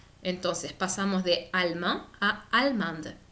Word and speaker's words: allemande: la pronunciación de español, pero para el caso de allemand, agregar la E hace pronunciar la D. Entonces pasamos de allemand a allemande.